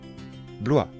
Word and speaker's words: Blois: chenonceau et le château d'amboise attention de bien prononcer les noms de châteaux répétez après moi chambord le château de chambord blois le château de blois chenonceau le château de